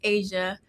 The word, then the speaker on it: Ashia: My name is spelled weird. So, I feel like not a lot of people understand it, which is okay because the H throws people off. Um, so they're like a what is that? Yeah. Exactly. The GPS gets my name wrong all the time. So, um, yeah, it's Asia.